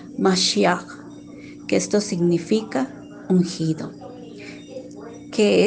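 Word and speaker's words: משיח: quiere decir mesías y en hebreo que se pronuncia más ya que esto significa ungido que es salvador libertador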